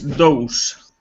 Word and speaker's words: dose: The second word is dose. Dose. Dose. Like uno, dos, tres, dos. Dose.